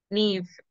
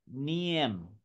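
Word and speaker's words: Niamh: Oh, the M is silent? Like, all of it is silent, yeah. Like... like N-E-E-V. That's the funniest thing somebody said. All of it is that. Nia. It pretty much. So like N-E-E-V. Like that.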